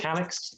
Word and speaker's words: Calyx: as you know we we call it calyx uh i think it's good to touch on the name because i really like the name not just because it rhymes with my name um but but it's